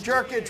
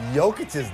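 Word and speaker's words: Jokić: Plumlee and Jokic, what are you going to do? Yeah. That's nice. That is nice. You know, it's almost as nice as the way you pronounce Nikola Jokic's name.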